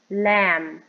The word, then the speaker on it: lamb: lamp e leaf leaf B is silent um lamb El M lamp leaf